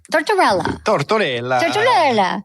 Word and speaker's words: Tortorella: Tortorella.